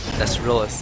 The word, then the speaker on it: Nesrillis: Nesrillis is hard to pronounce, my bad. My English is pretty bad. I spent a long time screwing it up until Reddy corrected me. Nesrillis.